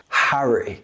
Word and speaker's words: Harry: In American English, it's often pronounced like hairy, with a longer, more open vowel sound. Pleasure doing business with you, Harry. However, in British English, it's short and crisp. Harry.